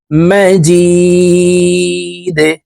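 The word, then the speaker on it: مجيد: হামিদুম এখানে গুন্না করব মাজিদে দাল কলকলের হরফ নিচের দিকে ধাবিত করে ধাক্কা দিয়ে উচ্চারণ করে সাকিন করে ফেলবো ইন্নাকা হামিদুম মাজিদ আল্লাহুম্মা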